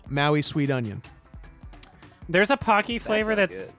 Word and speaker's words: Pocky: pocky chips on twitter we know pocky can be a little tough to pronounce so he put together a list of words that rhyme with pocky to make it easier tacky and wacky no hold on snacky